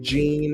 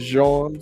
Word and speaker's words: Gene: Even though Thad Gene is Haitian American, I believe he prefers Gene instead of Jean, so I'm gonna call him Gene.